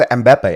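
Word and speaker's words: Mbappé: all I think was Mbappe. Mbappe. yeah, nah, because I think in the French accent, when you pronounce baby, like baby in English, Yeah.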